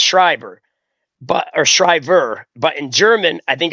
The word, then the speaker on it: Shriver: from, my understanding of my last name, I think it's pronounced Scriber or Scriber.